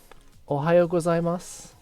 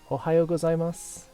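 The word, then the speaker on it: おはようございます: Ohayo gozaimasu. Ohayo gozaimasu.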